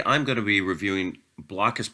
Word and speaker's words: Blokus: going to be reviewing blockus portable or blocus as I think it's supposed to be pronounced uh this is